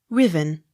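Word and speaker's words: Ruthven: pitchly r u t h v e n riven s a n d y s sans s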